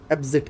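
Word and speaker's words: apposite: ये word pronounce किया जाता है एप्जिट के नाम से। एप्जिट, अपोजिट हम जैसे बोलते हैं ना, ऑपोजिट, सो एप्जिट।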